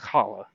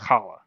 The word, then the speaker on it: challah: We call it the Mediterranean H. If you've ever eaten challah, it's pronounced challah. Or I kind of choked on my spit there. It's pronounced challah.